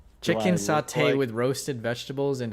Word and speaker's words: sate: sate, S-A-T-E, but I think it's pronounced satay, not saute.